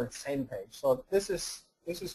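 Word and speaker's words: SMPAG: is called Ian and the other one is pronounced same page this was coined by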